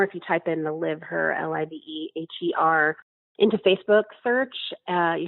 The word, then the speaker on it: LiveHer: Now, the name of the project is LiveHer. Talk about where we can go online and learn more about this campaign. The LiveHer project is like a combination of liver and her. It's spelled LiveHer.